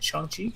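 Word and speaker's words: Shang-Chi: week for episode 77 and uh go see shang chi is that how you say it chongchi that's how you say it all right folks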